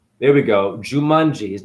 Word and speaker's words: Jumong: I'll find it Korean Archer I'm saying his name wrong jamong there we go jumongi his name is jumong juu m o n